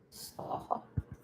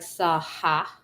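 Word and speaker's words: saḥ: It would have a dot underneath it so that you know that it's a breath. So it sounds like SAHA, but it's not necessarily an A there.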